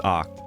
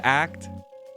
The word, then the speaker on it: Oct: From watching people, I know it's Oct. I would have said Act, but I'm glad I got the pronunciation correct.